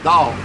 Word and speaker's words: Tao: it spelled T a old Tao but is pronounced down in Chinese now the gene which is the